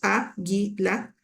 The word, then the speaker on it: águila: más fuerte la palabra por ejemplo águila tiene tres sílabas a guila y cuando tú la mencionas al inicio donde suena más fuerte te dicen si tú